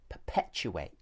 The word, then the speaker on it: perpetuate: attention to the word perpetuate. And do you want to perpetuate that? To perpetuate that? If you say the word perpetuate, you'll notice that it has 4 syllables.